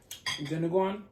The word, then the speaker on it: Dinuguan: So now we have to get on to this Dinuguan.